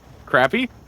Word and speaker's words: crappie: Yeah, it's spelled C-R-A-P-P-I-E. Crappy?